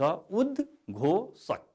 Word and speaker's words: उद्घोषक: उद्घोषक उच्चारण हुन्छ उद्घोषक।